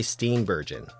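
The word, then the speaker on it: Steenburgen: Part 3 brought to my attention that it's pronounced Mar Steam bergon and that I should be ashamed of myself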